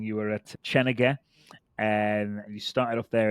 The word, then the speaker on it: Chenega: I know it's spelled a little differently, but it's Chenega for almost 10 years now.